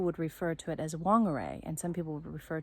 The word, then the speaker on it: Whangarei: amazing place, and so the WH is actually pronounced fa, and so there's different places like Whangarei and Mangawhai.